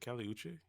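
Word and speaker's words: Kali Uchis: Like we also had, and I always say her name wrong. Is it Kali Uche? I think he's saying it right. Uchis? Kali Uche. Uchis, yeah.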